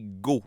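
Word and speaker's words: Goths: populaires c'était d'ailleurs les gos ça s'écrit j'ai OTH mais ça se prononce Go parce que tu gotte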